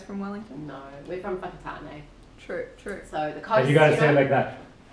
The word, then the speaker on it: Whakatane: And you gotta say it know? like that. Whakatane! Whakatane, the east coast. And that's not a swear word, that's how you pronounce it. Yeah, yeah. And that's the Maori pronunciation.